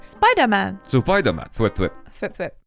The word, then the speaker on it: Supaidāman: How does it pronounce? Supaidāman. Yeah. Surprisingly, though, they didn't actually sound like that when they said it. They just sounded like they were saying Spider-Man. Supaidāman.